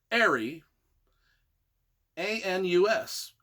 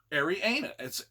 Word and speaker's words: Arianus: It's A-R-I, Ari, A-N-U-S, Arianus.